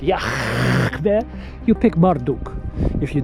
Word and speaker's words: Yahweh: That's how you pronounce it. Yahweh.